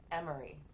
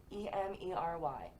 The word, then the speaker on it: Emery: I heard Emery. Emery. E-M-E-R-Y. Emery. And I know that's how it's spelled, even though I didn't see it.